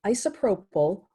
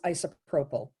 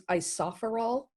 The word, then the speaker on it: isopropyl: But I always, in my head, thought it was isopherol.